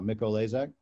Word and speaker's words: Mikolajczak: And literally it's taken me 4 years to be able to pronounce it. I think I got it right now, Mikolajczak.